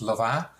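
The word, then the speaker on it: Louvain: belgium actually and you're in the french speaking part then it's actually pronounced lava and or something like that i can't really pronounce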